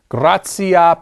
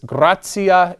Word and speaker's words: gratia: Gratia plena. Literally, filled with grace. Gratia is in the ablative there. That's the ecclesiastical pronunciation of that word, gratia.